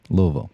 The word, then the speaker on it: Louisville: that's very good close you got to say it like you've got a little bourbon in your mouth and you don't want it to spill out Louisville okay we'll get there before